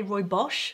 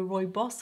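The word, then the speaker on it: Rooibos: also correct to say Roy Bosch which is how some of the Africans say it so Roy boss or Roy Bosch is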